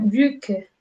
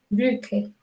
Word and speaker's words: Brücke: Y este es otro tipo de U, que es un poco más cerrada, que sería Brücke, Brücke.